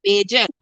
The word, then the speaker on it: Bajan: No, it no, I'm from Barbados, and the slang for somebody from Barbados is a Bajan. A Bayesian. But I bet you it rhymes with Cajun.